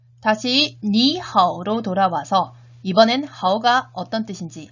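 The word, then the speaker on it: 你好: 니하오. 발음 주의하세요. 다시 한번 2성, 3성 주의하면서 인사해 보도록 하겠습니다. 니하오.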